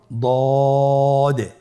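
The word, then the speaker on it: ض: দদের মাখরাজ জিহ্বার গোড়ার কিনারা সামনের উপরের 2 দাঁতের গোড়ার সঙ্গে লাগিয়ে উচ্চারিত হয়।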